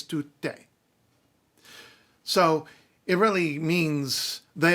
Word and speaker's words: tutte: like that, fan, do, tutte. All of them, all, female, all. It's not men, it's female specifically because it's not tutti, it's tutte.